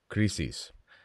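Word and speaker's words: κρίσις: You know, the word crisis it's a Greek word, and this is the pronunciation. It's very difficult. It's krisis. It's spelled the same.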